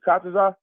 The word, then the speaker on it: Kataza: Is it Kataza? Kataza, correct. Yeah, not yet. I wanted to say it right. Is that Captain Kataza?